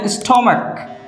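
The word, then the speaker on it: stomach: এছাড়াও আছে স্টমাক, স্টমাক এর অর্থ পাকস্থলী। এটা হচ্ছে ব্যতিক্রম। নর্মালি সি এর সাথে এইচ থাকলে চ, ব্যতিক্রমভাবে হয় কি ক।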